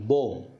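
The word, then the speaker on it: bomb: চড়া ক্লাইম্ব তারপরে ধরুন বোম বি ও এম বি বোম বি এর উচ্চারণ হবে না আবার এই যে থাম্বনেইল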